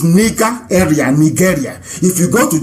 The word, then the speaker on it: Nigeria: a bit uh okay the proper name is nika area nigeria if you go